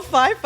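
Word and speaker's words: Pfeiffer: the you know Michelle Fifer I'm like wrong it's a pH the p is silent there's an F that's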